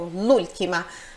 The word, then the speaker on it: l'ultima: volta ltima a última esse L seria o artigo Lula parece uma palavra só né o som é único Lula mas isso daqui literalmente